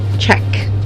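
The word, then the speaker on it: cheque: CH e qu e check okay CH e qu e check me somewhere check okay check you okay okay at upon check you a John Deere check you but you pronounce it as check was an American American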